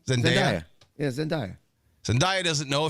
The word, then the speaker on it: Zendaya: Zendaya?